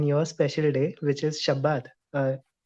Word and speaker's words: Shabbat: special day which is shabbat uh am i pronouncing it right you're pronouncing it correctly and amazing and you sound like israelis when you say it so i i feel